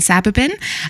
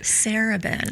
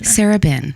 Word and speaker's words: Sarabin: I'm here with Sabin. Um, that's not how you say my name.